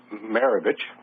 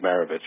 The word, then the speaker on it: Marovitch: our gold luxury members, Brian Marovitch, that is pronounced the same as Pistol Pete Marovitch, right?